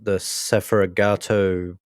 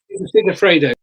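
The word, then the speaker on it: Segafredo: The Tolman that had the sponsor, the Sefragato, I pronounced that wrong. The coffee brand, right, along that Tolman, Yeah. and it Well, was they were Sigafredo.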